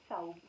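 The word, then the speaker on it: ثوب: Thobe, so you don't pronounce the H. I hear no, thobe and yeah. I hear thobe. Yeah, it depends on the dialect. Uh-huh. So we'd say thobe, but the standard Arabic would be thawb, which means a dress.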